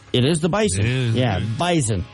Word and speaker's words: Bison: It's like a Z. You know? Yeah. Bison. Even though it's spelled with an S, but whatever.